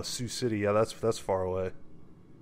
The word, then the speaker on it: Sioux City: Iowa salix Iowa uh-huh I pronounce this wrong soak city Oh Sioux City yeah that's that's far